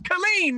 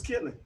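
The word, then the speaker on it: Killeen: where he lin texan ain't no goddamn killer it's colleen hmm that's two syllables that's colleen yeah yeah yeah yeah that's colleen yeah i thought it was killing hey billy get this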